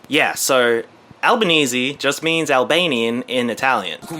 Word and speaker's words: Albanese: that she takes Maryann albanes albanes you say like from Albany I guess I guess so they learn to pronounce it right eventually albanesi although some people would say albanesi as well so that's that's Anthony